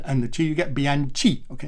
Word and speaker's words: Bianchi: So that B as in be aware, Anne as in Princess Anne, Anne of Cleves, other Annes are available, and then chi as in the first part of cheese, but leave off the E's bit.